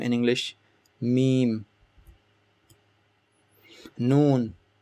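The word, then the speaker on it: ن: Noon, like N in English, like Nancy, noon.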